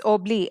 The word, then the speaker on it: Obélix: Now, in French, it's Obli, X is silent.